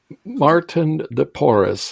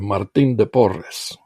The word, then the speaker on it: Martín de Porres: Yes, and it's Saint Martin de Porres is the English pronunciation, Martín de Porres in Spanish, who lived between 1579 and 1639.